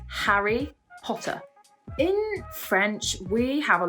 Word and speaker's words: Harry Potter: with this and to make sure that we pronounce that H when it's there so for example it's not re Potter it's Harry Potter in French we have